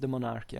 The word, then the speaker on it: De Monarchia: Yes, it's pronounced De Monarchia actually in Latin with the accent.